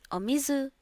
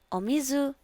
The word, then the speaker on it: お水: The sample pronunciation, omizu, it feels like the U sound is cut short, and I don't know,